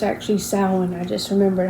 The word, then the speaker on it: Samhain: And Bodkin is about, I forgot how they said it, but Samhain, a city called Samhain or something like that in Ireland.